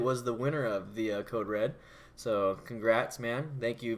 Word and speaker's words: CODE: REaD: basically a code write code reader it's called Code Red but it's a code read re ad but pronounced Code Red and the fuel pack fb3